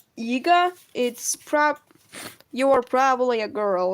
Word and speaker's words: Iga: Why you say my name Yiga when it's Iga, not Iga? Yiga? Okay, I think mispronounced. You're probably hearing it as Yiga. I'm saying Iga. It's probably just that Yi and E are similar sounds.